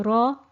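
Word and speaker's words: راء: mind especially when um students uh um find it difficulty in pronouncing the the letter raw uh because they're used to pronouncing the english r which is rolled back onto the tongue so the the english r would be rolled back here further down on the hard palate so make sure your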